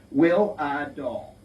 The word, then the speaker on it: Wihlidal: last name is will will a doll just that's exactly how to pronounce it like w-i-l-l-r and doll that's how it's pronounced pretty close anyway and if you go